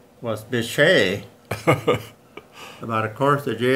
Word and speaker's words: Bitche: was appropriate name like I said the French pronunciation was Bechet about of course the ji is called a